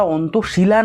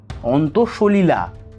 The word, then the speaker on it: অন্তঃসলিলা: ওরে খ্যাপা, ওটা অন্তঃশিলা নয়, অন্তঃসলিলা। উচ্চারণটাও ঠিক করে কর।